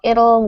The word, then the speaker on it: it'll: The T is almost like a D, and this should rhyme with the word little. So let's just say it a few times.